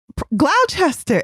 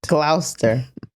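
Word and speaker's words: Gloucester: said this to who Glouchester it's in the quote Glouster okay oh really so is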